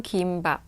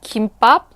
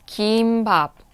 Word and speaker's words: gimbap: pronunciation is a kimba it's a long vowel some people actually pronounce it kimbap kimbap that's actually wrong